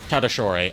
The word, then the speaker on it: Tatasciore: I know because of JKR. Okay. Because he apparently asked him how to say his last name. Tadashore.